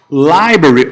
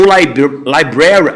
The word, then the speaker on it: library: Library ou library, as duas pronúncias são aceitas, tá, galera? Então, não tem um tipo de problema se vocês ouvirem de um termo ou outro.